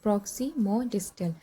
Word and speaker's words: Proximodistal: दूसरा हमारा जो डेवलपमेंट है इसके अंदर वो आता है प्रॉक्सिममोडिस्टल जिसकी हमारी प्रोनाउंसिएशन होती है प्रॉक्सिममोडिस्टल।